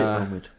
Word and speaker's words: Omid: they've got om J yeah I can never pronounce his name just say Omid Omid they get Omid and a bunch of